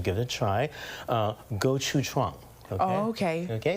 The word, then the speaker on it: gochujang: special sauce, and let's see if I can pronounce it correctly. I'm not Korean, so I'm going to give it a try. Gochujang.